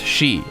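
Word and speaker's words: し: for four is pronounced she and it sounds similar to the word death which is also pronounced she tech is likely based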